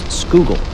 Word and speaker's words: Schuylkill: Pennsylvania Philadelphia and Frackville the river name is pronounced skoogle which is Dutch for a Hidden River before